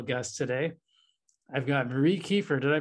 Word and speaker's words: Kieffer: a very special guest today i've got marie kiefer did i pronounce your name last name correctly you did